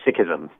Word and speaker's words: Sikhism: How do you say it? Yes, it's actually Sikhism.